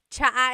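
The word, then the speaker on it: tsaa: And it's spelled T S A. Cha. Cha. That's such a Tagalog spelling. I love it. There's the ts sound and then the double vowel uh pronunciation. Cha.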